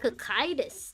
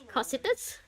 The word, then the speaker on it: Cocytus: Cocytus. That's how you say it? Engineering gear. In my head, I was reading it as Cositus.